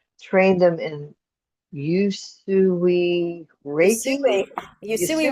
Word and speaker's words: Usui: manage their moods, train them in Usui Reiki, Yusui. Yusui Usui.